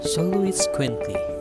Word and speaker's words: Xoloitzcuintli: Xoloitzcuintli, aka Mexican Hairless Dog. Xoloitzcuintli, pronounced as Xoloitzcuintli.